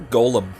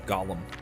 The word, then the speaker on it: golem: okay doolen horn gollum so you say i prefer golem to disregard from uh you know gollum the exhausted i knew